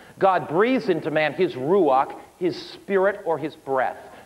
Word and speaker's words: ruach: The Old Testament Hebrew word for spirit is ruach.